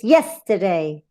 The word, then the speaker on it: yesterday: Remember that it has a stress in the first syllable, so it's yesterday.